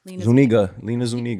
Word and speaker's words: Lina Zuniga: my instagram it's everywhere it's like my brand lena zuniga you said it right yes damn that [